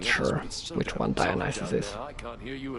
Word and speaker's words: Dionysus: So while in English it is pronounced Dionysus, which sounds silly when you look at the letters, in Polish it's Dionysos. Dionysos. Which is very similar to Dionysus, but spelled in a